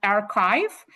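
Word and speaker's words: arXiv: domain name name that's pronounced as archive but it's spelled very interesting um a r capital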